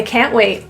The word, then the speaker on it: can't: I can't wait. Another positive response to any invitation, notice the T's were pronounced as glottal T's in the throat. Can't wait.